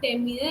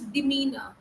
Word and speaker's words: demeanor: You said demeanor. It is not demeanor. It is demeanor.